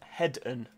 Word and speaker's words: Heden: Francesca says, Heden is pronounced Hedden. Oh, is it Hedden?